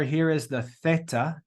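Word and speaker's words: θ: letter here is the Theta Theta in Greek it's like th in LA in English we pronounced it with the th sound then we've got Epsilon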